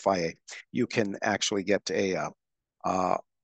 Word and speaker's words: Fage: I know it looks like phage, but it's pronounced Faye.